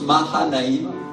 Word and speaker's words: Mahanaïm: Et le deuxième mot qui est utilisé, c'est le mot Makshanaïm, qui nous parle d'un camp double et qui est un endroit en Palestine. Certains le prononcent Mahanaïm.